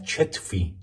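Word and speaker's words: چتفي: نایمه علی چتفی. جتفی نوشته شده اما چون تو عربی کیبورد چه نداریم از چه استفاده میکنیم، اما تو تلفظ میگن چه.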